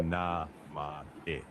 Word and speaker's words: namae: Just slow down Namai. Say Okay. na ma e.